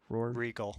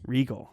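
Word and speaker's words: Regol: and assassin's apprentice but that's r-e-g-a-l not r-e-g-o-l but still very different characters but their name is pronounced the same yeah and i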